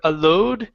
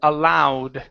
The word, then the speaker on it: allowed: uh allowed right here instead of alow this is ow allowed allow okay very good